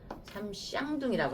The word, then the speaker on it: 삼쌍둥이: 삼쌍둥이라고 하는 거예요. 그 발음 조심하셔야 될 것 같아요. 쌍욕으로 들려. 쌍.